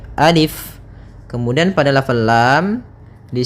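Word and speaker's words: ألف: Nah, maka ketika kita membacanya, untuk alif ini la yumaddu, tidak dimatkan, tidak dipanjangkan, sehingga jangan dibaca alif, tapi hanya pendek saja, alif.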